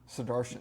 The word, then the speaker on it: Sudarshan: I know it's Sudarshan.